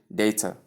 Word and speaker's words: data: Tip: both are correct, but choose one consistently. It is important you note that both these pronunciations, as we show here, as you can see on the screen right here in the boxes, two boxes, it says data or data, data or data. You get that? So these two pronunciations are correct. You can use any of them.